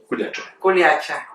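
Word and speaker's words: Kuljače: está en la montaña, que se llama Kuljase. Kuliacha. Se escribe Kuljase, y la familia pertenece a Pastrovici, la zona de Pastrovici.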